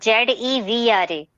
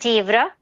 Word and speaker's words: zebra: At the same time, there is one more word, Zevra. Mostly right Z-E. pronunciation is Zevra. Okay. That is called zebra.